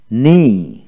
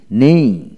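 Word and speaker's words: knee: Double N double E, নেই নেই। কে N double E, নি নি। কে এর উচ্চারণ এখানে হবে না।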